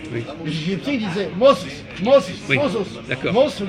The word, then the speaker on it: Moses: Moïse, nous on dit Moïse, mais on prononce, le vrai nom c'est Moses, Oui. comme disait là, Moses.